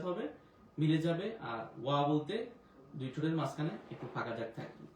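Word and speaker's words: ب: বা ওয়াও বা ওয়াও বা বলতে ঠোঁটটা দুইটা ঠোঁট একসাথে মিলে যাবে।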